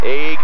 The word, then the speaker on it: Age: Age Hurd. I guess he has kind of a funny first name, and it's Age. They spell it A-G-E, and it's pronounced age, or it's A-G, I guess.